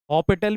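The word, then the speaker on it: L'Hôpital: तो बेटा ये 0/0 फॉर्म दे रहा है, तो इसका मतलब इसमें हम एल हॉस्पिटल रूल लगा सकते हैं। क्या कर सकते हैं, अप्लाई एल हॉस्पिटल, हॉपिटल भी बोलते हैं, प्रोनाउंसिएशन कई जगह हॉपिटल भी बोलते हैं, एल हॉस्पिटल रूल।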